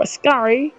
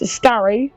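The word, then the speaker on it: Ascari: entire straight and then through a scar that's how you pronounce that now it's a scar and catfish going very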